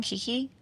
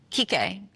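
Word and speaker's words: Kiké: Kike Hernandez? Kike. Am I saying it wrong? Kiki? Kike.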